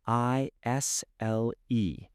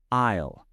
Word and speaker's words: aisle: A I S L E. Say it with me. Isle. The S is silent. That's a tricky word. Isle. Remember the S is silent.